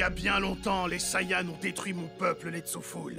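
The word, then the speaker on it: Saiyan: chose que tu perdras prince des saillants ça se prononce Saian je m'en fous je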